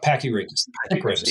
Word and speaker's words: Pachyrhachis: And so the Pachyrhachis, am I pronouncing that correctly? Yeah, Pachyrhachis.